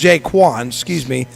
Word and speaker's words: Jaquan: Do you say Jayshawn Thomas, or is this Jashawn? Jaquan. Jaquan. Okay, so it's Jaquan, Thomas, who has 42 tackles on the year, averaging 7 a game, 4 tackles for loss.